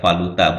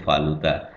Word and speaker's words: valuta: Ini yang paling sering agak susah juga dilafalkan ya, valuta bukan valuta ya, valuta. Aktif bukan lagi aktif.